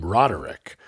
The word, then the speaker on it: Roderick: But like in my own name, there are members of my family that pronounce our last name Roderick, and I am a real stickler for the fact that it's a 3-syllable last name, Roderick, and I do that a lot.